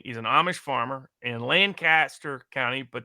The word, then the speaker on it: Lancaster: He's an Amish farmer in Lancaster County, but it's actually pronounced Lancaster.